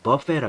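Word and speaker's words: buffet: 뷔페라는 발음 안 하고 미국에서는 버페라 그래. 버페.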